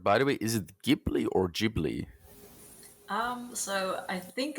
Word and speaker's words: Ghibli: So I think that's actually where they got the name Ghibli from. But because of the Japanese pronunciation, they've always been calling it Ghibli. So it's like honestly, both is fine.